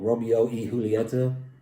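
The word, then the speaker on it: Romeo y Julieta: the Romeo and Juliet pronounced in the cigar world Romeo he Julieta I say Romeo and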